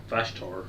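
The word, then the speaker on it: Vashtorr: I really like the changes they did to Vashtor. Is that the way you pronounce it?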